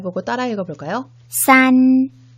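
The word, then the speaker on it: 三: 하겠습니다 1 병 물 잘 보고 따라해 볼까요 싼 싼 4 싼 1부터 3까지 하나씩 세어 볼까요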